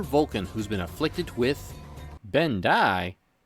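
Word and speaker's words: Bendii: who's been Afflicted with benai sounds like Ben Kai and spelled with two eyes see I told you Ben Kai was spelled right no dunk it's Ben Kai say it right next time Mr dundy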